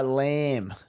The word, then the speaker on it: Lamb: Undies sauce, coached by Lamb. Second overall, first in our league. Yeah, nice. Well done, mate. Unreal to see. L A M L A M with a silent B.